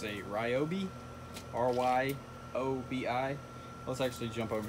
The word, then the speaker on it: Ryobi: So, I'm gonna probably butcher how you say it, but it's a Ryobi, R-Y-O-B-I.